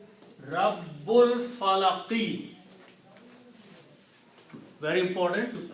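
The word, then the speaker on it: رَبِّ الْفَلَقِ: So when you read them together, you do not pronounce this alif. Rabbul Falaqi. Very important to correctly pronounce Rabbul Falaqi.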